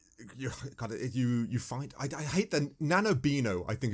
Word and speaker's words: Nahobino: Am I saying it wrong? I'm gonna start calling him Nanobean. It's the Nahobino, and that's not his name. That's his race. He is a Nahobino.